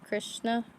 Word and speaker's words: Krishna: pretty because I'm not a good singer it's pronounced Krishna correct but yeah get him some clothes and